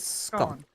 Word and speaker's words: scone: I pronounce it scone. Mm-hmm. That's because I'm northern.